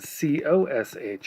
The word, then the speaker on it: cosh: turns out it's useful divided by two and cos H of X pronounced cosh is hyperbolic cosine and it's e